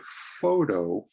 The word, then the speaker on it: photo: bit faster here so in this word photo photo a two-syllable word you stress the first o photo but the profession